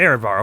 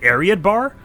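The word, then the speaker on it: Areadbhar: by my father sorry how was that pronounced oh and eredbar okay see i thought when they brought violeth into smash that they were just pronouncing it wrong i was like i was like isn't it ariat bar whatever okay cool thus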